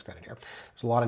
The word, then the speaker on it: Grenadier: Yeah, it's Grenadier. There's a lot of names mispronounced out in Roncesvalles.